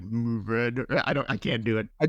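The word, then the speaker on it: Mourvèdre: Yeah, no, Mourvedre. Some people say Mourvedre. If you get real French about it, it's like Mourvedre.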